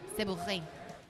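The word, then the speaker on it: Sabourin: People My- say Saborin for me. How do you pronounce it actually? Saborin. That's what I would have said.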